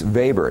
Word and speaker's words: Weber: do you really value Max vber not Weber it's not Weber bread it's the German e with the a you pronounce it vber uh Max vber is